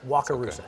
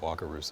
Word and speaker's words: Wakarusa: but i sometimes forget how to say it wakarusa wakarusa that's a pretty cool name uh but we're